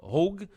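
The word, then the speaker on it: Hauge: the way uh uh supposedly his last name is uh is pronounced uh hogue somebody posted a picture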